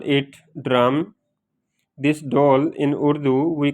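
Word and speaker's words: ڈھول: And for Roman, we call it DHOL, pronunciate like that, doll.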